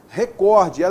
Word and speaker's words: recorde: esse assunto aqui ó a pronúncia correta é recorde é paroxítona não tenha assento então muito cuidado com